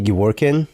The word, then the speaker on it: Gevork: Uh, if you introduce yourself to the crowd with proper pronunciation of your last name. It's Gwin.